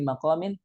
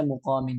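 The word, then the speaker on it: مقام: Ada yang baca maqamin, ada yang baca muqamin amin. Yang baca pakai dhammah siapa? Imam Nafi', Imam Abu Ja'far, Imam Ibnu Amir, itu bacanya fi muqamin. Ya. Adapun Imam Hafs bacanya maqamin dan yang lainnya. Wa huwa maudhi'il qiyam.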